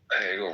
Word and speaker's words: Hegel: Hegel rhymes with bagel.